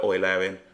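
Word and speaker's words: Eulerian: how you pronounce it I prefer oil Arian but again it's entirely up to the person who is saying it um on how they pronounce it okay let's first look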